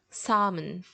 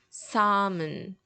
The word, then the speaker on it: salmon: one is different because this one we don't say the L but it's less a region thing you know this one is more commonly said without the L independent of the place where you are so it's always gonna be salmon salmon salmon salmon no